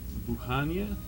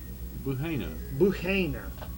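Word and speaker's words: Buhaina: Help me with this pronunciation here. Who? Me? Yeah. You gonna pop it on me? Buenas What? Buhania? Buhania. Oh, no. Buhana.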